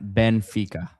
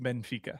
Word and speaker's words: Benfica: You're putting an extra e on it. Benfica. It's just Benfica.